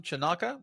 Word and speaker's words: Chanaca: We have a special guest, John Chanaka. I guess I'm pronouncing that correctly.